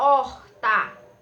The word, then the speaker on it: horta: a palavrinha né a horta como vocês percebem o h ele não é pronunciado certo porque ele é mudo tenho aqui a palavrinha